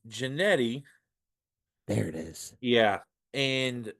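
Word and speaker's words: Jeanty: you think uh should win it uh it's janetti there it is yeah and uh if if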